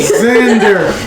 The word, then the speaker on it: Xander: going to be like xander oh my god i'm just i'm going to look at it but the best part is it's pronounced with a z but it's spelled with an x i'm gonna look at